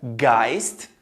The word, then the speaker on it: Geist: E esse som do S e do T vai ser regular sempre que ele aparecer no final da sílaba, ou no final da palavra, ou numa divisão de sílaba.